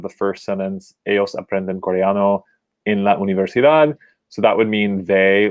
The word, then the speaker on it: universidad: universidad we see that la universidad ends in the letter d so we know that according to the rules we've learned that you would pronounce the stress on the last syllable because it's a consonant